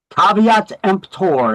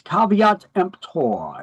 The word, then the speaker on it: caveat emptor: So caveat emptor is how you pronounce that. You could add that to your definition list. A little more Latin. It's not pronounced kvtemper. It's caveat emptor.